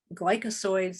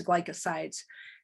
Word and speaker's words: glycoside: out of the plant the gly glycosoids i think that's how you say it oh it's glycosides they store and then